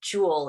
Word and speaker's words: Jewel: Nedrick Jewel Carroll, and my other grandfather was Yule, and so the feminine pronunciation of that was Jewel, so it kind of came from both sides.